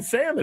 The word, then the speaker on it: salmon: The L in salmon. What does it do? Nothing.